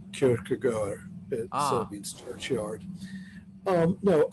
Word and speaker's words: Kierkegaard: Not Kierkegaard. really, because I kind of Yes, view that. sorry, it's actually pronounced Kierkegaard.